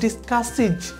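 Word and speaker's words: discusses: তারপরে দেখুন এটা রয়েছে ডিসকাস, দন্তস্য রয়েছে, ইএস যোগ দিয়েছি তাই এখানে উচ্চারণটি হবে ইজের মতো, তাহলে ডিসকাসিজ। অনুরূপভাবে এখানে হবে ডান্স, দন্তস্য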